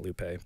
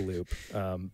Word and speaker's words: Loupe: people do mispronounce it it's not Lupe by the way it's a loop but um it's really